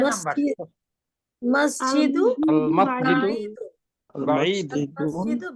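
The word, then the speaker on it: مسجد: দেখেন অনেকে মসজিদটি উচ্চারণ করেছেন মসজিদু, সিনটা সিনের মতো উচ্চারণ করে নেই। মসজিদু মাস বাঈদুন মসজিদুন আল আল মাসজিদু সিনটা মসজিদু ক্লিয়ার করবেন।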